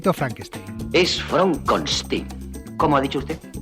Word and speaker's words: Frankenstein: Es Fronkstein. ¿Cómo ha dicho usted? Mi nombre se pronuncia Fronstein.